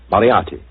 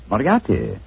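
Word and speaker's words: Moriarty: mispronounce it I'm afraid I'll have to begin calling it the way it looks m o r i a r t y mariati mariati I shall remember that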